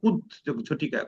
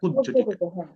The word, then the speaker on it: কুজ্ঝটিকা: আচ্ছা, এটা কুত ঝটিকা, মূলত এটার উচ্চারণটা হলো কুত ঝটিকা, কুত ঝটিকা।